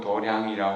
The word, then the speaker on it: 도량: 뜻으로 도 창 혹은 도량이라 우리 한게 아닙니다 유교나 도교 에서는 이제 수행 장을 도장 이라고 이렇게 하는데 유교 앞으로도 교하고 조금 다르게 버리기 때문에 도량이 라고 이렇게 발음하는 것 같아요 에 도량 행한 대체적으로